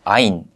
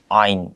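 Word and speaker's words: عين: o 뒤에서 나오는 다 목 뒤에서 나온 자음 인데요 그래서 발음을 할때 그냥 아인 편하게 아인 이라고 하는 것이 아니라 in 이라고 이렇게 발음을 하셔야 합니다 그래서 아이네 독립형 을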